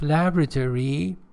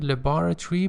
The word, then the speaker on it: laboratory: Some laboratory, American pronunciation, laboratory, British pronunciation.